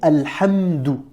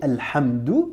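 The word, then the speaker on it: الحمد: écoute bien, Alhamdou, donc à la fin de Alhamdou, tu entends bien la syllabe dou, Alhamdou. Donc tu as bien le son D ici. Tu as la consonne D suivie après d'une voyelle OU.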